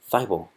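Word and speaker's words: Thybulle: they go with a small forward Matisse fybel Fievel that's how you say his name I heard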